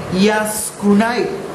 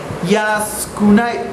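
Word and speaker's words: 安くない: Entonces, ya que lo tenemos junto, nos queda yaskunai, así se pronuncia, yaskunai.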